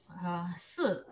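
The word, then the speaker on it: 四: And pronounce as si, and also we have other word of die. Oh, I see. Same, very close pronounce with a different tone. This is the fourth tone. This is the third tone.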